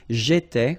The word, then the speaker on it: j'étais: J'étais, okay? Remember here we've got accent aigu, so it goes like et, all right? J'étais, okay? Tu étais, il était, elle était.